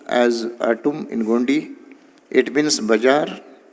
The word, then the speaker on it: आटुम: It is pronounced as atum in Gondi.